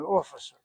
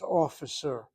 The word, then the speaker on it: office: an office with an officer. Again, the word misrad is an office. If your English is a second language, it's possible you're pronouncing the word office as officer. An officer is not an office.